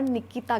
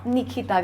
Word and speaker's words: निखिता: आ रहा है हा एवरीवन हैव कन्फ्यूज निखिता और निकिता गांधी निखिता निखिता गांधी के इ प्रोनाउंस होता है ना ओके निखिता गांधी